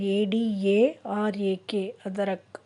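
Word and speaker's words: अदरक: அதரக் ஹிந்தியில் எப்படி ப்ரொனவுன்ஸ் பண்ணுறதுன்னா ADARAK, அதரக்.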